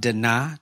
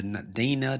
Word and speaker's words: Dinah: this episode um this is part two of daa that's how you we at first we used to say da Dina Dina Dina Dina but her name is Da